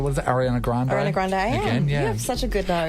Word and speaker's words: Grande: and you know what it's actually pronounced um Ariana Grandy Grandy yeah yeah Grandy Grandy Grandy AR if it's Italian it's Grandy no it's Grandy y well it would Bey I imagine it would be Spanish y Arana she's Italian